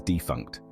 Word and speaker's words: defunct: We pronounce it as defunct with the stress on the first syllable.